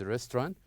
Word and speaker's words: restaurant: And for the second one, the word restaurant, restaurant, restaurant. Okay? So these are examples of the word that we should stress its first syllable.